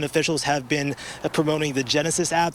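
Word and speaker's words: Genasys: Again, officials have been promoting the Genesis app. That's Genesis spelled with a Y, G-E-N-A-S-Y-S, to see if you are within that evacuation zone.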